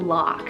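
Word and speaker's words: Locke: that is the name lock so small L OC ke kind of short cool and it only has one syllable lock I think this would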